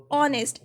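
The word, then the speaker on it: honest: तो ये क्या है, ऑनेस्ट. एच क्या है, साइलेंट है यहाँ पे. स्टार साउंड्स फ्रॉम ओ, तो ओ क्या है, ओ इज अ वोवल, तो उसके साथ एन ऑनेस्ट बॉय यूज़ करेंगे.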